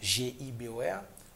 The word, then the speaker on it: Gibor: OK, vous prononcez le Gibor. Mm-hmm. Là, il y a un autre bagaille. Là, vous fait appel à une autre entité. Parce que ce n'est pas comme ça le prononcer. C'est Gibor.